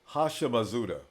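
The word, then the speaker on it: Houshmandzadeh: a pronun on the black says TJ is pronounced hasham mauda he was a great wide receiver in the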